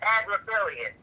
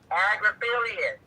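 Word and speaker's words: Agnifilo: You know, it's, you know, and by the way, it's Agriphilius, the lawyer's name that you was trying to pronounce.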